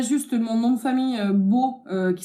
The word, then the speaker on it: Beau: Après, moi, enfin, voilà, E-A-U, A-U, tout des tonalités de O, hein, voilà.